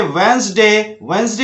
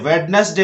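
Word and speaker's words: Wednesday: हैंडकरचीफ को हैंकरचीफ बोलना है, वेडनेसडे को वेंसडे बोलना है, वाल्क को वॉक बोलना है, वॉक, और टाल्क को टॉक बोलना है।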